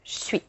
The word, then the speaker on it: j'suis: So for example, je suis will become suis.